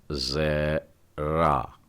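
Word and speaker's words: זרע: कहते हैं सहगल और इसके लिए मैं एक शब्द लिखता हूं और यह है जरा जेरा और जेरा शब्द का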